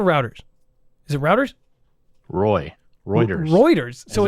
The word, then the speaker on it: Reuters: wrong routers are routers is it routers Roy Reuters Reuters so it's me Rogers Roy Reuters on